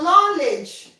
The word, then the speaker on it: knowledge: Your not your knowledge knowledge. The K is silent.